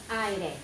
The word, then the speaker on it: aire: So aire. This is only a two-syllable word, not a three.